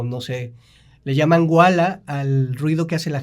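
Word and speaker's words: walla: Entonces, si yo sé que en la película va a haber trenes, caballos, etcétera, o no sé, le llaman wala al ruido que hace la gente platicando.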